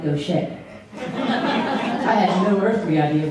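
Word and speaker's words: Gauthier: It's spelled G-A-U-I-T-H-E-R from Kentucky. That doesn't sound like Gaucher.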